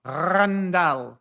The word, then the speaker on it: Randal: They called him Randall. So yeah, you got to roll the R. Randall. Maybe I'm overdoing it a little bit, but yeah.